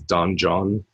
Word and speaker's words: Donjon: can have the entire dungeon just generated for you, a bare bones thing. Another good website is Donjon, although it's pronounced dungeon, DONJON, and specifically for 5th edition.